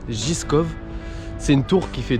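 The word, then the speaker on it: Žižkov: on vient d'arriver à la tour zizkov pour qu'ils se prononcent giscop c'est une tour qui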